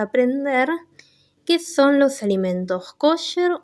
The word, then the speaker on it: kosher: La palabra kosher se pronuncia así en español, pero sí lo pueden escuchar en hebreo pronunciado como kasher.